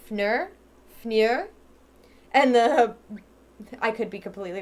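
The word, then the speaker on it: Pfnür: I'm pretty sure in that case, the P isn't pronounced. My sister's ex-fiance's last name was spelled with a PF at the beginning like that, but the P wasn't pronounced. It was just foul. So that was his last name. But this must be Fnur.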